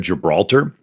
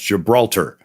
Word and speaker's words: Gibraltar: Interesting, the Rock of Gibraltar.